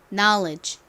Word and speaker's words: knowledge: 쓰였어요 마지막는 무슨 소리가 나나요 소리가 나죠 그래서 발음해 보면 지식은 knowledge입니다 따라해 보세요 knowledge knowledge 알다는 KN no 이고요 no 지식은 knowledge입니다